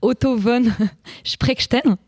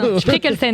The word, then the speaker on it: Spreckelsen: Je vais essayer de prononcer son nom. Otto von Sprechtein. Me regarde pas. Spreckelsen, exactement.